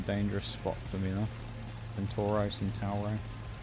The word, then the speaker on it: Centauro: Centauro. It's more Italian if you say it like that, doesn't it?